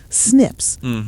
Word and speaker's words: SNP: Oh, by the way, it was one of my neighbors who told me that these SNPs are actually pronounced as SNPs.